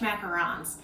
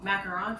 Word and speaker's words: macaron: bit particular um and i've had multiple people tell me that it's uh that i say it wrong macaron french macaron macaroon is a completely different cookie so i don't know